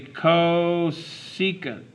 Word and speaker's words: cosecant: This first one, it's CSC, and we say that's the cosecant. The cosecant of theta. The next one is SEC, which is pronounced the secant of theta.